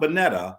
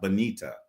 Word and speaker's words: Bonita: So it's Bonita, right? Not Bonetta, Bonita.